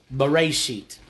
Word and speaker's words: Bereshit: But that first phrase, in the beginning, that comes from the word, well, the phrase, Bereshit.